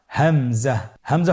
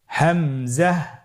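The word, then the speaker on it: همزة: পরবর্তী হরফটির নাম হামজা। হামজা হরফটি উচ্চারণের ক্ষেত্রে বারিক করে উচ্চারণ করতে হবে এবং এখানে টেনে পড়া যাবে না। দ্রুত পড়তে হবে। আপনারা আমার সাথে বলুন হামজা হামজাহ হামজা হরফটি উচ্চারণ স্থান হা এর মতই।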